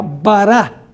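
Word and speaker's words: ברא: La palabra creó en la Biblia, en el Antiguo Testamento, es la palabra hebrea bará. Bará. B A R A con acento en la A final.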